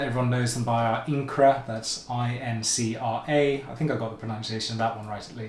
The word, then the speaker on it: Incra: The kind of brand name that everyone knows them by are Incra, that's I-N-C-R-A. I think I got the pronunciation of that one right at least.